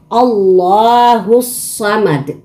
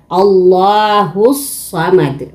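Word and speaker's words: اللَّهُ الصَّمَدُ: yung parang soklay ito, na ang bigkas is nagiging duble ang litra. Parang Allahus Samad.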